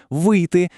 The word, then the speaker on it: вийти: Якщо дієслово відповідає на питання, що зробити, тобто дія завершена, то наголос падає саме на цей префікс: вийти, виписати. А от якщо питання, що робити, дія ще триває, то наголос тікає з префікса далі у слово виходити, виписувати.